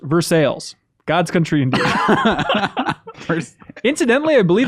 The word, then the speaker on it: Versailles: have a town called Versailles but it's not pronounced Versailles it's pronounced Versailles God's country incidentally I believe that someone mentioned